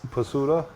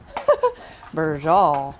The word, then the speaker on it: Braciole: How do you pronounce what we're making, Daryl? Pasuda? Braciole. Oh, Braciole.